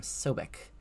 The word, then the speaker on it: Sobek: this is pronounced um we pronounced this name sobik um and this is the god Sobek um and what we